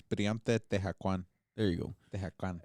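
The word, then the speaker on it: Tehuacán: Tehúacan.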